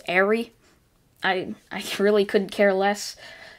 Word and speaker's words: Eri: would not his head a lot of you guys say it's airy and that's how they pronounce it in the anime um so i like calling it eerie but it's airy i really couldn't care